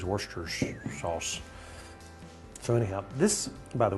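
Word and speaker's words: Worcestershire: Now, if you look at it the way it's phonetically, it looks like worister shar, but I think it's worsters sauce.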